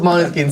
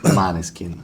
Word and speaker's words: Måneskin: this is the wi autocomplete interview why was mon skin censored well we can't handle we're too hot